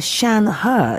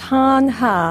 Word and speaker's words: Shan Hur: he is actually pronounced hanha ah hanha even though his name begins with an s h yes yes yes I